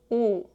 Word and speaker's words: 우: To pronounce u, first gently add some tension to your lips and round them into a small circle. 우, 우, 우.